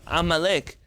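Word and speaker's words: עמלק: It tells you that the A should be pronounced A, with an ayin. And the kuf, which is supposed to be also a sound from your throat, and not a k from the top of your mouth.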